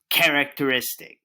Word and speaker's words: characteristic: Now, how many syllables do you hear in the word characteristic? Characteristic. That's right. 5 syllables. Say all the sounds you hear in the word. Repeat after me. K, a, r, a, k, t, er, I, s, t, I, k.